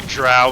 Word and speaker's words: Drow: Oh, you mean pronouncing Drow as Drew?